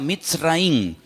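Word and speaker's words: מצרים: país de Egipto que en la Biblia se pronuncia mitz raí se escribe al principio con una letra men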